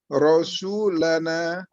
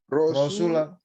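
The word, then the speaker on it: رَسُولُنَا: Rasulana. Jangan di fathah. Rasuluna. Iya, Rasuluna.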